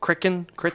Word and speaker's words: Crichton: Michael Crichton. It's Crichton. That's what I'm just going. Crichton. Crichton. I just freewheel it here and then. Michael Crichton. It's Crichton now. He's a creature. Michael Crichton.